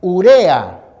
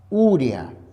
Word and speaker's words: urea: caso hablamos de la palabra acá igual se pronuncia urea y no urea aquí estamos entonces empleando esta palabra para explicar